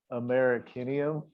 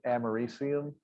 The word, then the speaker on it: americium: everybody would know what you're talking about if you call them all over The one that's AC, everyone calls it like Americanium, but it's Americium.